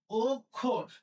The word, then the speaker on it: অক্ষর: এটা লিখতে হবে গ্রাজ এইযে অক্ষ অক্ষ কক্ষ যদি হয় তাহলে এটা পূর্বে যে আছে উচ্চারণ মত হবে তাহলে কি হবে অক্ষ খোর ও খোর অক্ষর দেখো নিয়ম পড়ে অনেকগুলো